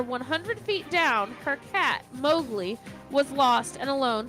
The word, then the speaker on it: Mowgli: thought it was like I thought it was Mobly no mowle m o WG l i oh okay I've been pronounced it wrong the whole time go ahead uh mowgli's